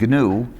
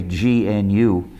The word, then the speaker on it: GNU: many areas of applications the original idea of gnu and by the way that's how you pronounce it don't say gnu it's takes too long people won't want to